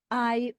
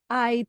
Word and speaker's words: hay: And remember, you do not pronounce the H. Hay un patio grande en mi casa. Hay 3 ventanas en la sala del chalet.